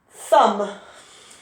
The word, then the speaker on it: thumb: is bad for me thumb some really tricky to spell some t-h-u-m-b it's got a silent b on the end thumb thumb treasure uh